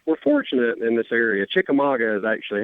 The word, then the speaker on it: Chickamauga: Chickamauga is actually how you say it.